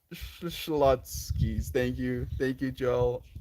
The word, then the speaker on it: Schlotzsky's: well Schlotzsky's is a sandwich shop and it's pronounced Schlotzsky's thank you thank you Joel thank you so